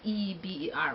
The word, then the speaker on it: Eber: Eba is spelled E-B-E-R, or Eber, however they pronounce it.